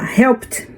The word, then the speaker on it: helped: Então, no caso aqui de help, né, termina com P, help, a gente fala helped.